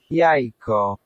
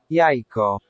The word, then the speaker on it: jajko: Jajko. Jajko. Okay, the pronunciation there kind of as we expect it.